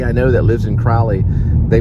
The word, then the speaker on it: Crowley: Like my last name is because there's an EY at the end. So it makes the vowel sound long. So the O is in the middle of the word, so EY would make it Crowley.